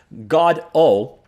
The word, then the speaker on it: Godot: He says it should be God-O. Whoa. Godot.